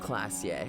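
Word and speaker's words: Klaasje: Or is pronounced Oran Classier is pronounced Classier.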